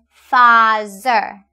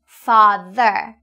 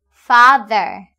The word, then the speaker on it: father: I often hear you say mother or father, but the correct pronunciation is mother and father. Repeat once again. Mother, father.